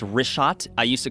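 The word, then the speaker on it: Richat: couple uh I just want to say it's rot I used to call it rick hot I was mispronouncing it but let me ask you this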